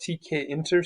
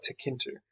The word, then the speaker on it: tkinter: But if I look, they say this is pronounced two different ways. It's called tkinter, some people call it, or some people just call it tkinter.